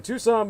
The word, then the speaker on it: Tucson: tour information contact the Tucson murders. uh that's Tucson spelled like tuxen to the o n put the word the